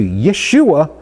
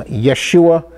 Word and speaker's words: Yeshua: name is changed from joshua or yahushua to yeshua the son of noon so this is the